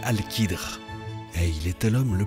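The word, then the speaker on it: al-Khidr: l'histoire nous apprend que son nom est alcadre prononcé alkidre et il était l'homme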